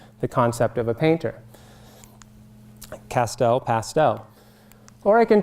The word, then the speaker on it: Castel: my name is Castel and it rhymes with past Oh in fact my grandfather was a painter who used pastels so now you can